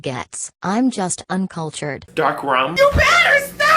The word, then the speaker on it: Goetz: is going to be Malin and goeth it's actually pronounced melon and gets I'm just uncultured dark